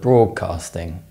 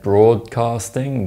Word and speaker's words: broadcasting: But how do you think we pronounce the word broadcasting? If you said broadcasting with a D sound, you're wrong. When the D sound is followed by a K sound, it's replaced with a G sound.